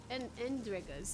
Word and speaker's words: Endregas: Gotta blow this up if I want to get rid of the Endrigas. Ew, these are gross. Those things were endregas, that's how you say it.